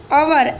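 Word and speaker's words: hour: Here our, H, it's beginning with a consonant word, but the pronunciations is our, so we use article n, right?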